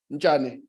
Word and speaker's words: Nchane: Did I pronounce it correctly? Nchane.